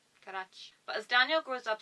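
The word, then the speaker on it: Carax: If I remember my Catalan pronunciations, X is a ch sound. Carach.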